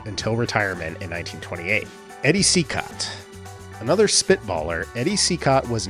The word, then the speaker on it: Cicotte: would presumably be pronounced Cicotte. But actually it's of French origin and would be pronounced Cicotte in French.